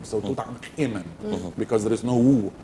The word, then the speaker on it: Tut Ankh Emen: First of all, let me tell you that Tut Ankh Emen is the correct way of pronouncing his name, because if you say Tut